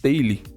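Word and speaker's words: Tally: Eu utilizo um formulário que ele chama Taily, tá? Acho que é assim que pronuncia, tail. Soo.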